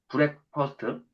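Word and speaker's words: breakfast: 사장님 아침이라는 거는 아침 식사는 한자로는 조식이고 그리고 영어로는 브렉퍼스트인데 브렉퍼스트? 블랙이 아니에요. 이거 발음 잘못했더라고. 브렉퍼스트. 네. 영어 선생님이 일단 블랙이 아니고 브렉퍼스트. 브렉퍼스트.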